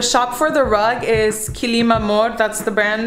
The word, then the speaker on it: Kilim Amor: The shop for the rug is Kilim Amor, that's the brand name. I think I'm pronouncing it right. It's Kilim and then Amor, like love.